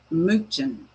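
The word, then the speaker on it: München: They pronounce it minen.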